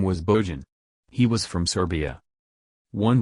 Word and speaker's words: Bojan: Bojan, pronounced Bojan, possesses impressive training and credentials.